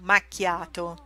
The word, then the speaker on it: macchia: Coffee with a shot of milk is called macchiato. So this is a macchia. In Italian, CH, you read it like a K, so you pronounce it macchia.